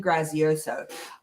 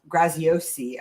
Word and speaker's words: Graziosi: prosperity by um dean grazioso graziosi i believe you pronounce it um new york times